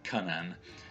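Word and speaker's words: Cynan: in a N and the y is pronounced like a sound in Old English of course he's Welsh so it could be pronounced come an because the Y in Welsh is not pronounced like a new Miss perhaps I can ah so he's probably probably pronounces his own cunnin and it's actually the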